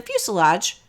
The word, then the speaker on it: fuselage: for the main course the fuselage rhymes with blue garage is the largest part